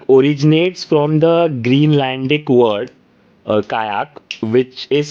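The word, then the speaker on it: qajaq: And the word kayak originates from the Greenlandic word kayak which is spelled as q a j aq where the j is silent.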